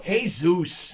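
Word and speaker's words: Jesús: not i wouldn't know oakland a's pitcher jesus lizardo hey zeus jesus hell's wrong it says jesus well that that's pronounced jesus in his country how would i know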